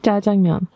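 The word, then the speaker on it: 짜장면: I have jajangmyeon.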